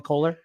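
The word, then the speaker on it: Kolar: it's charlie kohler right is that how you say it's charlie kohler charlie kohler out of iowa state yes yeah so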